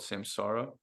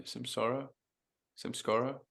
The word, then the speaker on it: samskara: Um, and there's a Hindu term to describe that called samsara. Yeah, samskara. I always say it wrong, dude.